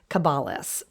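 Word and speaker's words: caballus: for horse and that is cabalis cabalis c-a-b-a-l-l-u-s and believe it or not you're most likely familiar with a number of words that come from this latin word cabalis valus is probably how you pronounce it meaning horse first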